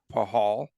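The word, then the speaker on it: Pachal: week signing defenseman um Braden pahal I've got to get that right yeah you're good okay am I good on that pronunciation because he doesn't spell that way a one-year contract of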